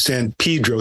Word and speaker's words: San Pedro: CDs and you know he says San Pedro so I knew I knew if you say it that's that's the right way to say it we're gonna have